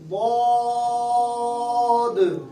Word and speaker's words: ضاد: یہ زبان کی کروٹ سے ادا ہوا. ضاد.